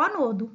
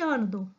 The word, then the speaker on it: ânodo: redutor, que é o anodo, ou cátodo e ânodo. Aceita-se as duas pronúncias.